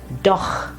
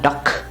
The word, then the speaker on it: doch: Like for example, here we have doch, and it's not doch but doch, or buch.